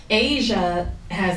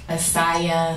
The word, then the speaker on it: Asiah: Asia has the age on it, so when people see it, they're like, Asiah, they don't know how to pronounce it. Oh. So I had to add pronounced, like the continent, Asia.